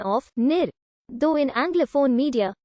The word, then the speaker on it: Niger: nagiran meaning flowing water the most common pronunciation is the french one of nir though in anglophone media nada is also occasionally used